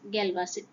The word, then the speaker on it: Galois: Galois is pronounced as Galois.